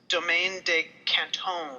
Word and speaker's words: Domaine de Canton: I found out from the liquor store after I mispronounced it that it's Domaine De Canton.